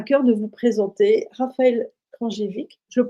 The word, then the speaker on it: Kranjcevic: Alors, j'avais à cœur de vous présenter Raphaël Krajewicz. Je le prononce bien? Ouais, très bien, Kranjevich.